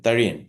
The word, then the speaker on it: Tharian: Is that how you pronounce it? Bention. Theion.